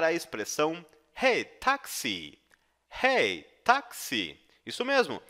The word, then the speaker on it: Taxi: Hey, Taxi! Isso mesmo, a pronúncia de táxi em alemão é igual ao nosso táxi no português.